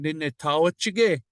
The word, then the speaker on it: Nitaawichige: No, you don't say it like that. Say it all in one. Nitawachige.